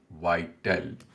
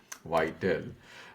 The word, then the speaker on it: Viettel: And he talks about this operator of Vietnam, which is the largest mobile operator, which is, I think, pronounced as Viettel. Viettel, largest mobile operator, and is building a 5G network based on its own technology along with critical components from Qualcomm.